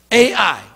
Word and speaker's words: Ai: a slot smaller the city of a high AI it's how you say it ai ai that's